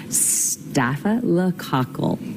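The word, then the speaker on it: staphylococcus: If your doctor tells you you have this, they might just call it a staff infection, but it is pronounced stafa lacle.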